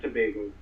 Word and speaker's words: Tobago: Tobago how do you say it Trinidad it's Tobago Tobago yeah that's all you said um flying